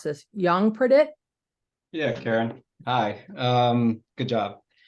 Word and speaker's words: Yongpradit: and I apologize if I mispronounce this, Yongpradit? Yeah, Karen. Hi. Good job. Thank you. Hi, everyone. My name is Yongpradit.